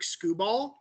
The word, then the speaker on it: Skubal: Now it is currently Tariq Skubal. Am I pronouncing his name right? As I understand it, yes. Skubal.